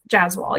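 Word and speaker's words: Jaswal: Jazwall. Yes. That's how you pronounce it.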